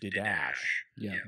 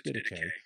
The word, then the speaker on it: Didache: People look at the way it's spelled and they think it should be pronounced Didache, but it's not. It's Didache.